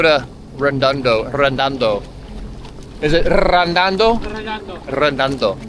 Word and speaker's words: Redondo: Redondo. Redondo. You gotta roll your R's, guys.